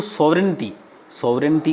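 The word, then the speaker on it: sovereignty: टू सॉवरेनिटी का मतलब यहाँ जी साइलेंट रहेगा।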